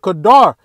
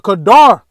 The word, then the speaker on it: qadar: That's why they got that word black and not this word kadar. You have to get this word kadar. All right, because that's the word for black in Jeremiah 14:2, kadar. It's the same word here.